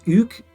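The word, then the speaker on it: Hugues: go Hugo is wrong the French French for that is UK h u g u s UK as in hug hug cap huap Hugo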